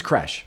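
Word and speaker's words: crèche: I think it's pronounced creche. No, it's definitely, I looked it up. It's creche.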